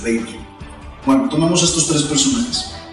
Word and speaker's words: Weber: La pronunciación correcta, de hecho, es Weber.